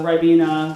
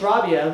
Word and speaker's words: Rabia: And that name is kind of a name where people just mispronounce it all the time. It's like Rabia, Rabia, Ribena, those kind of things. It's annoying. And then I'll correct them and say it's Rabia.